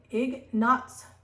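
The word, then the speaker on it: Ignaz: this story here um Ignace um egg knots that's how you say it zemovies so um was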